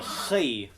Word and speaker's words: chi: Yes, you have to put it more you kind of make an H, but you kind of rough it up a little bit. So, chi.